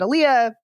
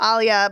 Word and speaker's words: Alia: how you pronounce because Frank Herbert said Aaliyah Lynch said Alia but anyway yes I